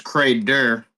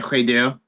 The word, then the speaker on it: Credeur: So you have Credo, but my last name is Credeur, or in the French pronunciation, Credeur.